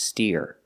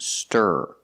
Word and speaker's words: stir: mean whisk ah yes this word is not pronounced steer it's pronounced stir using the r sound like Burger it's a Clos sound